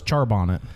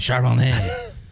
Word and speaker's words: Charbonnet: Charbonnet. I thought it was Charbonnet. Nah, it's definitely Charbonnet. Say it right.